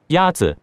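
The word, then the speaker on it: 鸭子: Yazi is pronounced with a first tone. In Mandarin, there are four tones, which are essential to distinguish the meaning of words. The first tone is a high, level tone.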